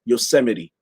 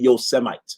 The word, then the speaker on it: Yosemite: just need somebody who can pronounce yosemite and not call it your semites right we need somebody